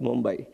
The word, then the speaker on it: Mumbai: both by the way Bombay was the British pronunciation but local people always call it Mumbai so this change the